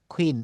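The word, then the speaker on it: queen: হবে কিউ যেমন কুইন এটা কুইন না এটা খুইন এই যে বলেছি কিউ কে আমরা খ বলব খুইন কোয়েশেন কোয়েশেন কোশ্চেন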